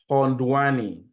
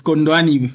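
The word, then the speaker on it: Khondwani: uh which is I'm finding it hard to pronounce this name k h o n d w a n i hondan uh yes it's condani condani band great your name where are you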